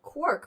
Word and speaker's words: quark: for peculiar objects and Quark rhyming with pork came out at the